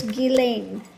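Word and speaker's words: Ghislaine: Now, as far as the pronunciation of her name, you can stop texting me on that. I've had those that were speaking French that said that my pronunciation of her name for French way was correct. Okay? And that uh you know the pronunciation that they want to use here is giling.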